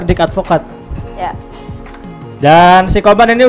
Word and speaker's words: Dick Advocaat: Bacanya gitu enggak? Bacanya benar Dick Advocaat.